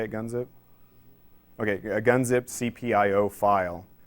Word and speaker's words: gunzip: the uh RAM dis is just a g gunzi is that how you say it gunzip okay a gunzip cpio file so if you